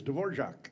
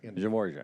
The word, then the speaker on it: Dvorak: Well, it's Dvorak. Dvorak.